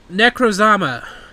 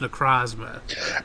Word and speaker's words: Necrozma: Necrozama. I don't like this guy. Sorry, I've been told it's pronounced Necrozma.